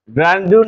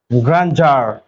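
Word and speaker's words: grandeur: ডি ই ইউ আর গ্রান্ডিউর গ্রান্ডিউর না হয় হবে গ্রান্জার গ্রান্ ঠিক আছে এরপরে একটা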